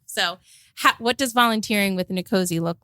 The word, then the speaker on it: NCOSE: NCOSE. NCOSE, okay. I'm going to start doing that cuz trying to do the whole thing every time is really throwing me off. So, what does volunteering with NCOSE look like?